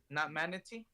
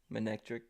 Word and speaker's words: Manectric: Basically, it's not manatey. Manectric.